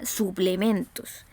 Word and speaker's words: suplementos: Por otro lado, encontramos la palabra suplementos. Suplementos. ¿Ya? La voz se carga, la sílaba tónica está en la penúltima sílaba, ¿cierto?